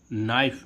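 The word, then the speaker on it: knife: नाइफ। नाइफ means क्या होता है? चाकू। अब देखो यहां पर भी एन आया है। लेकिन के क्या है? साइलेंट है इसमें।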